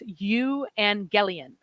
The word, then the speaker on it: Evangelion: And you lead them down to the fact that it's Evangelion. And that's how it was, more or less how it's really originally pronounced in Greek.